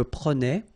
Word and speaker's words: prenais: All right, so same thing here, final S not pronounced. Je prenais, tu prenais, il prenait, final T not pronounced, so the same form, okay?